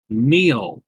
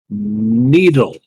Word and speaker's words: Neil: the simple fact that my name, Neil, is not hard. It's one syllable. Neil. My cousin, for the longest time, called me Needle. As in sewing needle.